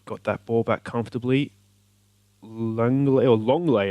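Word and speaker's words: Lenglet: Longley apparently is how you pronounce that, according to the Manchester United Sevilla game the other night, the commentary.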